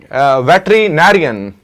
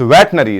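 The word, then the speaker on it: veterinary: बोलते हैं पिगल चलिए वेटरिनेरियन वेटरनरी क्या होता है वेटनरी इट्स वेटनरी तो वेटनरी कौन है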